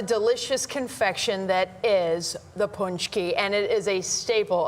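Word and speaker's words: pączki: Punchki.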